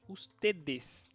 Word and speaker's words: ustedes: Ustedes, tá? Preste atenção na pronúncia. Usted, ustedes, tá? Singular, segura esse D final e aqui pode falar um pouco mais o D e esse, tá bom?